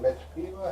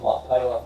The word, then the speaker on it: Machpelah: Was it Metapila? How do you pronounce that? I call it Machpelah, but Machpelah? whatever you want to call it.